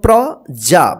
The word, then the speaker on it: प्रजा: राज्य में प्रजा देखिए प में र पद तो प के साथ आधा र का उच्चारण होगा प्रजा प्रजा सुखी और प्रसन्न